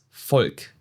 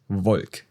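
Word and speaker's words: Volk: This is almost always pronounced like an F. So, this word right here is not dev, it's de folk, not does Vulk.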